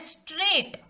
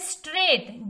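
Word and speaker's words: straight: पढ़ रहे हैं स्ट्रेट, जी का इस्तेमाल कहीं नहीं हो रहा है, यहाँ पे हम स्ट्रेट नहीं पढ़ रहे हैं, इसको हम पढ़ रहे हैं स्ट्रेट, मतलब कि यहाँ पे जो जी है वो साइलेंट है, तो इसको हम इस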